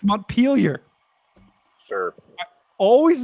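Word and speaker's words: Montpelier: the screen the M with the m it's montellier or something like that nope that's what I thought monture it's mpar sure I always mispronounce mpar and the last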